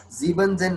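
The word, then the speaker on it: siebzehn: सर 17 को क्या बोलेंगे, एक बार प्रोनाउंस करिए तो. Siebzen.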